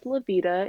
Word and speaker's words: Loveda: name is Laveda. It's spelled Loveda.